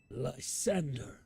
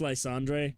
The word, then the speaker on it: Lysandre: Lzander. Kane insists it's Lzandre. He is right, but I refuse to pronounce it that way.